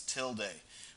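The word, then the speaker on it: tilde: That's pronounced X till day, where the till day is making reference to that little squiggle above it.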